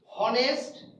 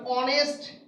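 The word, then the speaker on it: honest: হনেস্ট হনেস্ট নাকি অনেস্ট? কোনটা সঠিক উচ্চারণ? তাহলে অনেস্ট যখন উচ্চারণ করতেছি এই শব্দের উচ্চারণ অনেস্ট করতেছি, শুরুতে আছে কি এইস, বাট প্রথমটার উচ্চারণ হচ্ছে কোনটা?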